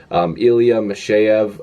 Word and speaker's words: Ilya Mikheyev: I believe that's how you say it. Again, it doesn't look like that's how you pronounce it. It almost looks like Ilya Mikheyev or Mikheyev, but apparently it's Ilya Mikheyev.